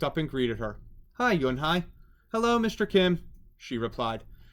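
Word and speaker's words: Unhei: joey she nodded slowly yes it's pronounced junhai and it means grace mr kim added yonhai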